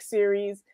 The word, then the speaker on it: Ceres: me and after dark it's series like series i knew this series like world series right